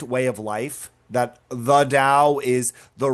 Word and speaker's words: Dao: Today we're going to talk about the confusion idea of the Dao. Uh that's the way the word is pronounced. It's sometimes spelled T AO in English, but it's pronounced as if with a D.